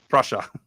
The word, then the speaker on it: Prussia: forget prusia PR Prussia Prussia okay just Russia with a ping Prussia just Russia with a p yeah that's all it is Russia Inky nice job